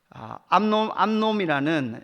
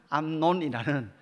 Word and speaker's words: 암논: 암놈이라는, 이게 발음을 잘해야 돼요. 암논이라는, 그죠?